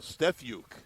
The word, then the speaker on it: Stefuke: Stefuke is the pronunciation.